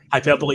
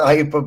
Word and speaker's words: hyperbole: the hyperbole you're rightfully say that's how you pronounce that hyperbole yeah hyperb some people say it's hyperbole I I'm sure I called it hyperb once I got ripped but the thing is